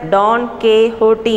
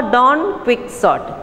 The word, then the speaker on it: Don Quixote: Yes, Don Quixote, you can pronounce it as Don Quixote in Spanish or Don Quixote, the eccentric and imaginative hero of a novel written by Miguel de Cervantes.